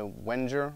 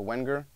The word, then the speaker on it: Wenger: bauer it's made by wenger or wenger depending on how you want to pronounce it i suppose this is their day